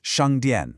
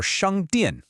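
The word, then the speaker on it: 商店: For shāngdiàn, let's start with that sh sound. This is what we call a retroflex consonant.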